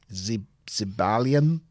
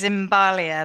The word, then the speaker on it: Zibalia: on the streets of Zibalian. He even says Zimbalia, but it is supposed to be Zibalia. Zibalia? Yeah, he adds an extra M in.